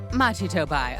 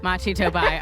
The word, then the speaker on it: Machi Tobai: Machi Tobai, our suspect. Oh, God. We are just starting. Fortissimo. Thank you. Machi Tobai, our suspect Fortissimo.